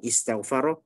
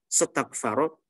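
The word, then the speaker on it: اِسْتَغْفَرَ: Jadi bacanya istighfaro ya istighfir, bukan setaghfaro setaghfiru. Gak bisa kan kita mengucapkan sin yang bersukun setaghfaro setaghfiru, nggak bisa, susah.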